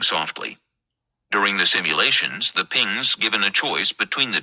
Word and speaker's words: PNGS: Then there was the difficulty with the pings primary guidance and navigation system pronounced pings because sometimes the acronym was informally spelled PNGs in the descent.